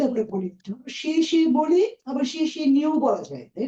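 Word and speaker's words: 谢谢你: কত number ton বলেন শেষে নিড হ্যাঁ থার্ড সো শেষে নিটা মাস্ট বি আপনি একটা ভি শেপ উঠাবেন আপনার ইয়েতে ফুল একটা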